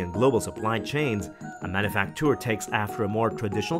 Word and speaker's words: manufacture: frenzy m stands for manufacture yes it's pronounced manufacture because it's french for workshop or factory in